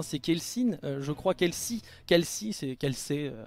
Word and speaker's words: Kelsey: Kelsi, c'est Kelsey. Ça se crie Kelsey, mais ça se prononce Kelsi.